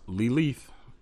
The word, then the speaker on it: Lilith: Pronounced Lilith.